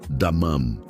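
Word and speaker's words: דמם: Se pronuncia damam.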